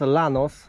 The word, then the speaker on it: Llanos: Rodzinka już pojechała, ale powiem wam, że Los Llanos, czyta się pewnie Janos, ale ja to czytam Los Llanos, bo kiedyś z Kasią mieliśmy Llanosa.